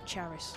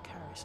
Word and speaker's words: Karis: Because they were mispronouncing her first name as Charis. And it's actually Karis, I think, I understand.